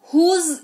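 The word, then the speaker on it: whose: एच ओ एस ई हुज इसको पढ़ते हैं तो हल्का सा ज का उच्चारण होता है हुज है ना ये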